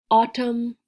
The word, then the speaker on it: autumn: fall is autumn autumn this n you see at the end is silent it's a silent n you don't hear it it's just spelled like